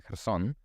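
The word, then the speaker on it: Херсон: But I had a friend from Kherson, and that's how you pronounce it in Ukrainian, Kherson. But then somehow she would say Kherson every time, like with a very plosive K there in the beginning.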